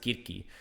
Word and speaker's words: Circe: I do know that there is actually there's a book that I read called Circe, or we would pronounce it Kirki, which is based off